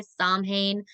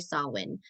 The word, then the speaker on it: Samhain: a couple times so if you hear me say sam Haan is a neopaganism translation some people do call it that but it is traditionally sawin um but I do